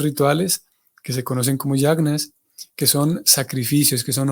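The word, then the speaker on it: yajña: es el concepto de yagna. Yagna, o a veces lo pronunciamos como yagya, o yagna es lo mismo.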